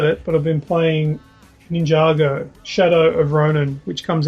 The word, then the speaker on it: Ninjago: and Sean I'll get your input for Sean n i n j a g o how do you pronounce it ninjo ninjo yeah now that's what I pronounced it